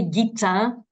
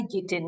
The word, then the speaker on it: Guittin: The French say Guittin, but I'll buy Guittin, don't worry.